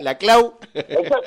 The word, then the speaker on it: Laclau: No, Laclau no se dice, fue compañero mío, era portugués, el padre. La Clau. Laclau, se dice Laclau, no es catalán, no es nada, es portugués.